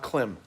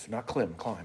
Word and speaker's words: Klim: It's pronounced Klim, by the way, not Klim. If you look at the I if you look over the letter I in the name of Klim, it's a long line.